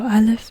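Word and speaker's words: אָלֶף: So Aleph is a glottal stop, Bet is a B sound, and Vet is a V sound.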